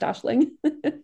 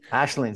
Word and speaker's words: Aisling: names things like Siobhan there can be sneaky little H sounds that kind of get in there that that you don't